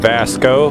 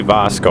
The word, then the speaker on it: Vasco: here we are with Vasco Vasco it's really Bosco I gotta start saying it right let's enter the lodge